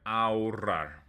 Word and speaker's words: ahorrar: So this word ahorrar. Okay. If you can't roll your R's, ahorrar is okay. All right. But that H is silent.